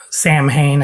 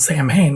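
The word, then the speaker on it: Samhain: and we started talking about how the correct pronunciation of of uh Sam Hayne as sa win right and I had heard interviews from the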